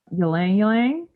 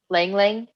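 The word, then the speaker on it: ylang-ylang: how to pronounce it Y langang is that how you pronounce that Lang Lang yeah is that it I think it's I think it's l okay don't you don't pronounce the front y I think so again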